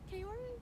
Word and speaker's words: Kaori: just whenever i go there and they're like kayore i'm like yes you said it right there